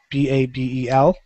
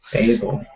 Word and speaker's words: Babel: know it as Babel, B-A-B-E-L. Babel. It's Yes. not Babel? Babel. That's how you pronounce. I think either Babel or Babel.